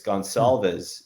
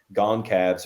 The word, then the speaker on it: Gonsalves: It's Gonsalves is how you say the name, and I'm saying Goncalves or something. It was kind of Sure. like Gonzalez, it's Gonsalves.